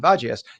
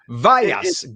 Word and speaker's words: Vagias: If it's Greek, it's Vagias, and if it's Latino, it's Vayas.